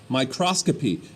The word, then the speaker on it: microscopy: was the father of what we call microscopy microscopy I know that looks like microscopy but it's